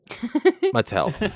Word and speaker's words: Mattel: I believe it's pronounced Mattel. Mattel.